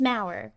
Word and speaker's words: Maurer: it's Maurer.